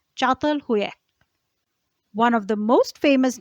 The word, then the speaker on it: Çatalhöyük: Çatalhöyük. Çatalhöyük is spelled as Catalhuyuk. It is spelled as Katalhuyuk, but it is pronounced as Çatalhöyük.